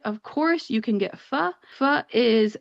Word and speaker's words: pho: course, you can get fu. Fu is spelled pho. If you don't know how to pronounce it, you might say fo. That is not how it is pronounced.